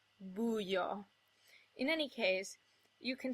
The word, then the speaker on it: buio: Also, in rare cases, you'll get a word like buio, where the I becomes the glide, buio.